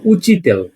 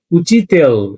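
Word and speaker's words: учитель: উচি, উ চে ই, উচি, তে ইয়ে এল, উচিতেল, এটা হলো আমাদের উচিতেল। লাস্ট একটা মিয়াকিজনা, ওই যে সব সাউন্ড, এটার উচ্চারণ কিন্তু আমাদের করার কোনো প্রয়োজন নেই।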